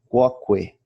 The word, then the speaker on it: quoque: O U do grupo QU é sempre pronunciado em latim. Quoque, qui, qua, quod, quid, quem, etc.